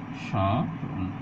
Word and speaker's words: স্মরণ: অর্থাৎ শব্দের শুরুতে যদি মফলা থাকে তা উচ্চারিত হবে না, এবং যে ধ্বনিটির সাথে মফলা যুক্ত হবে সেখানকার স্বরধ্বনিটি একটু নাসিক উচ্চারিত হবে।